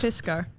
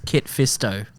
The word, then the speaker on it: Kit Fisto: Fisco. No, because it's Kit Fisto, isn't it?